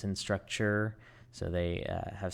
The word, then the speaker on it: Instructure: It's not instructor, it's instructure.